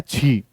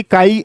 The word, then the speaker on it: chi: काई जो है वो स्पेलिंग ये है CHI। रिजल्ट जो है वो क्या है, छी, ठीक है। ये है तुम्हारा रिजल्ट आज की तारीख में, ठीक है। हाँ, वैसे काई कहा जाता है।